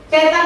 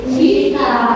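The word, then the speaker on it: cheetah: Cetak tadi apa? Gimana San? Cetak. Bacanya itu bukan cetak tapi cita.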